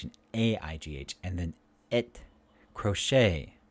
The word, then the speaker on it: crochet: a-i-g-h and then it crochet ballet these are french words so the t is silent so the a a